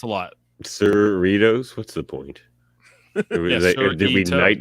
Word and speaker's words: Cerritos: yeah it's a lot cerritos what's the point tonight doritos like cerritos come on yeah um